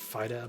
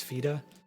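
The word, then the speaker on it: Fyda: It's spelled F-Y-D-A, and I've traditionally said Fida, but I'm told it's Fida.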